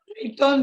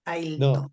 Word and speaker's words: Ailton: ¿Cómo se escribe? Escribilo, ¿cómo es? Aiton, dijiste, Aiton. Ailton Krenak. ¿Escribís? Sí, Escribiendo ahí en lo el chat. estoy escribiendo. Perfecto. No, Ailton.